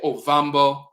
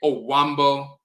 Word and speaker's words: Ovambo: If you look at the Ovambo people in Namibia and Angola, you'll see that some of them spell it Ovambo, and they will say, you ask them what their ethnic group is, they say Ovambo, but some of them say Owambo.